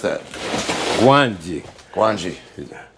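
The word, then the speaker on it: Gwangi: How do you pronounce that? Gwanji.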